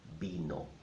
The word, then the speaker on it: vino: In Spanish, the V sounds like a ba, so it's not vino, but vino, vino, vino, vino.